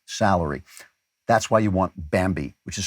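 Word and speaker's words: Bambee: a year in salary that's why you want bambi which is spelled b-a-m-b-e-e for some reason it was created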